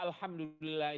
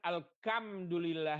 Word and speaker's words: alhamdulillah: di Indonesia di daerah orang membaca alhamdulillah itu dengan alkhamdulillah ya oke alhamdulillah alhamdulillah pada